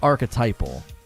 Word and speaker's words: archetypal: get the pronunciation here archetypal archetypal so he says it incorrectly he's canadian so we'll give him a pass it's archetypal yeah that's easier to